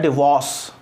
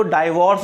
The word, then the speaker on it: divorce: इसका प्रोनाउंसिएशन होता है डिवोर्स। क्या होता है, डिवोर्स। लोग उसको डाइवोर्स बोल देते हैं कई लोग, तो प्रोनाउंसिएशन है इसका डिवोर्स, DIVORCE, डिवोर्स।